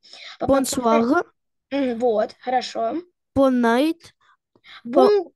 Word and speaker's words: bonsoir: У нас буква R читается как украинская Г. Надавлено. Очень сильно надавлено. Bonsoir.